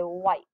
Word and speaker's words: white: i say its name because normally i would say if but we don't say wit right we say white so make sure that h is silent when you're saying it our next one is